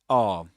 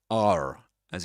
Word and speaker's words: are: This in British English in isolation is a R. That's the way you pronounce it. You don't say R as in American English.